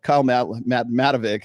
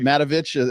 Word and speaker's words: Matovic: Oh, Kyle Matovic, who it's Matovich.